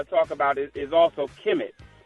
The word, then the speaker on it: Kemet: talk about is also Kim it and and that's spelled kmt Kim it was actually ancient Egypt